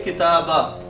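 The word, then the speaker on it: كتابا: i'rab as usual, but we do pronounce the alif. So we will say kitaba.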